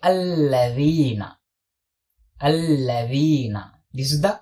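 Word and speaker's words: الَّذِينَ: And this is not allazina. This is alladhina. Alladhina, not allazina.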